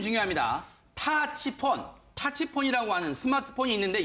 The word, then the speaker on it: 타치폰: 스마트폰 있으 가 궁금하실 텐데 북한에도 요 1명 타치 폰 발음이 중요합니다 타치 폰 타치 폰이라고 하는 스마트폰이 있는데 열풍이 불어 이때